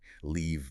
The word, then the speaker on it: leave: But for leave, you literally have to smile. Stretch your lips wide to make that long e sound. Leave. Leave on. If you aren't smiling, you aren't saying leave.